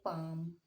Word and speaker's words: palm: Next है, अब हम इसे चाल्क नहीं पढ़ेंगे, अब हम इसे पढ़ेंगे चाक, और इसे हम पढ़ेंगे पाम, PALM।